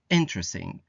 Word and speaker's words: interesting: on de uh interesting put the stress on the first syllable and say interesting social any c i